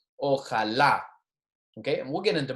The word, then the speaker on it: Ojalá: Ojalá. Notice that the word with the accent mark here, the pronunciation is on the accent, the last syllable there. Ojalá.